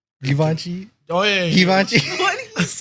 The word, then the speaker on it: Givenchy: Brvenchi? Givenchy.